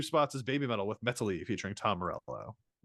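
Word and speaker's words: Metali: Number 4, going down 2 spots is Baby Metal with Metally featuring Tom Morello. Metari. He pronounces it a few times in the song.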